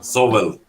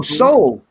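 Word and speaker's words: Sowell: or anything like that s-o-w-e-l-l how it's pronounced sobel thomas oh soul and i like yeah like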